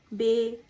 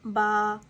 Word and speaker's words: ب: لہجے میں ادا کریں۔ اردو لفظ سے پرہیز کریں یعنی بے، تے، سے، ہے، کھے، توئیں، زوئیں وغیرہ ہرگز نہ پڑھیں بلکہ با، تا، سا، ہا، خا، تا، ذا پڑھیں۔ ان 29 حروف میں